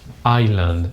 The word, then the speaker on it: island: pronounced Iceland but not this one this is pronounced Island something like this island island so Iceland is